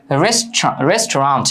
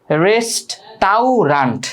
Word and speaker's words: restaurant: এটার উচ্চারণ হচ্ছে রেস্টুরেন্ট, একদম সঠিক উচ্চারণ যেটা রেস্টুরেন্ট, অর্থাৎ AU এর উচ্চারণটা হয় না ইংলিশে।